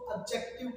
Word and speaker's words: adjective: इसमें इसका correct pronunciation, mind the pronunciation, D silent है, हम इसको एडजेक्टिव पढ़ते हैं।